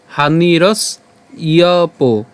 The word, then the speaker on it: হানিরস্যোপজায়তে: প্রসাদে সর্বদুঃখানাং হানিরস ইয়প। আমরা এটা অবশ্যই শুধু উচ্চারণ করবো হানিরস ইয়প, হ্যাঁ হানিরস ইয়প জায়তে।